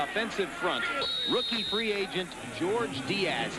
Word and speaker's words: George: Along the offensive front, rookie free agent George Diaz, he pronounces it George, not Jorge, out of Texas A&M Kingsville, goes against Chester McLaughlin.